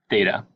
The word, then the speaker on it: theta: with a horizontal line through it and it's pronounced theta this is a Greek letter and you'll see